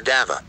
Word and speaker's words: Davao: The Aboriginal Obos, who inhabit the hinterlands of the region, called the river Davao, with a gentle vowel ending, although later pronunciation is with a hard V, or B.